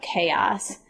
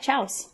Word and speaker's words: chaos: it dawned on me that they were talking about chaos um it's just spelled kind of funny kind yeah so sometimes it helps to hear the word pronounced so you don't come to class talking about Chow that was happening or what is this chow that they're talking about absolutely so I know